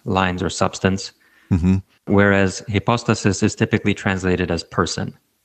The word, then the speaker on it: hypostasis: But in the singular, it would be hypostasis, yeah.